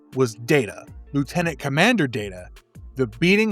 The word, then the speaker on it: Data: It is pronounced Data.